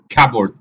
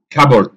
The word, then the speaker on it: cupboard: There is also، خلي بالك الله يبارك لك في النطق، cupboard مش كبورد، لا cupboard. There is also cupboard I put my t-shirt, socks and other clothes in this.